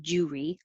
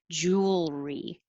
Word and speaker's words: jewelry: that the l can be heard otherwise it sounds like jewry instead of jewel all make the noise jewelry and then pull it back for the r and chocolate we don't